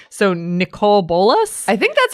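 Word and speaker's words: Nicol Bolas: Sam, the producer, says it's Nicole Bolas.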